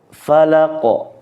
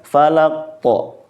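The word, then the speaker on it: الفلق: membacanya itu dilamakan qalqalahnya maka yang benarnya adalah dipantulkan secara jelas Qul auuduirabbil Falaq falaqo ahah kita bukan falaqo tetapi Qul auzzubirabbil Falaq gitu minyarri Ma khalaq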